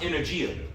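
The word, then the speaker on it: ἐνέργεια: When you bring this word working out in the Greek, the word is pronounced energia or energy.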